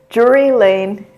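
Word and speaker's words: Drury Lane: Jury Lane.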